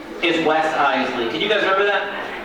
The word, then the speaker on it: Iseli: My last name is the trickier part. It's Iseli. Not Isel, not Iseli, Iseli. 2 syllables, Iseli.